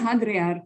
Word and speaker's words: hadrear: Ellos ellos pronuncian hadrear con h.